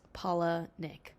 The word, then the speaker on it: Palahniuk: Palahniuk. I'll put it on screen here. He's one of my favorite authors. I looked it up, and it's Palahniuk.